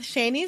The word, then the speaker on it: Shani: we are here with shanie silver she is an author and podcaster originally from Fort Worth Texas and her name is pronounced like Rainey with a sh and I'm adding that